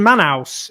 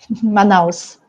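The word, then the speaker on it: Manaus: that and also linked to this um in manhouse is that how i pronounce it is it manhouse i'm never sure how to pronounce it manos man house in brazil almost there almost there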